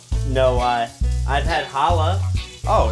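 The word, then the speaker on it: challah: yeah have you ever had that Jewish bread Chala no I I've had Hala oh it's pronounced Hala yeah I love that bread ah so I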